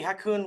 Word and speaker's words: Ha Kung: My name is Hakun. If you don't know me, Hakun rhymes with raccoon with an H, so now you know whether you wanted to or not.